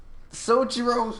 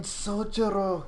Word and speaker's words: Sojiro: Sojiro, don't say it like that. It's fucking Sojiro.